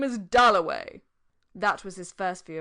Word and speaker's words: Dalloway: wickham at last he said my name is dullaway that was his first view of richard a